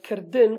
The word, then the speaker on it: kirdin: I wrote it like this before, but in Kurdish Latin you have to put this I, but you don't pronounce it. So this is din, not din.